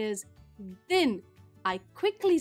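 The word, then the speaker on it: दिन: the previous one but the way you pronounce it is din with a short sound tin notice the difference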